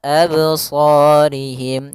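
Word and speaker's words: أبصارهم: Harusnya tidak boleh ya. dia langsung saja abs absorihim.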